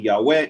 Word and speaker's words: Yahweh: biblical scholarship is that the original pronunciation of the name yud wah that God goes on to use in verse 15 was Yahweh there are several good